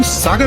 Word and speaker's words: सागर: पर आधिकारिक इतिहास इस लोक व्याख्या को हमारे शहर का नाम सागर होने का कारण नहीं मानता। और रही बात सोगढ़ की तो वो बस अंग्रेजों की धतरिया से निकरो एक अशुद्ध उच्चारण है ना कि हमारे शहर को नाम।